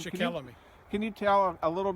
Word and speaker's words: Shikellamy: It's like 26 acres, but the statue down at the far end, I could not pronounce the Native American's name. Shikellamy.